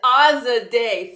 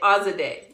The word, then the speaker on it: Azadeh: It's Azadeh. Think of it like a Azadeh. Holiday. Azadeh. Yes. Forgive me for the mispronunciation.